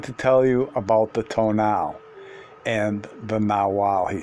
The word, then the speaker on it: tonal: Mexico I knew that the toe now pronounced pronounced till now was thought to be